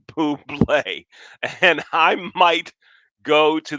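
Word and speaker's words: Bublé: august 29th michael buble if you're pronouncing it as bubble that's wrong it's michael poo play and i might go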